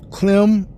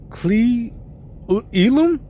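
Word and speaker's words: Cle Elum: i haven't heard um clem clee elum and the song have stopped starting back up again um washington it's it's c-l-e-e-l-u-m washington so i i butchered that name i know i did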